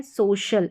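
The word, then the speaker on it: social: एस ओ सी आई एल को सोशल पढ़ेंगे क्योंकि एस ओ को तो सो पढ़ते हैं और सी आई एल यह हमारा स्पेलिंग पैटर्न अभी आगे सीखने को मिलेगा। इसको शल करके पढ़ते हैं। कई बार आपको शियल करके भी सुनाई सुनाई देगा।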